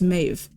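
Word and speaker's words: Medbh: misprononunciation of her name she's got a Gaelic name that's pronounced Mave But because there's a D in there and people pronounced the D, then she took the nickname Medi.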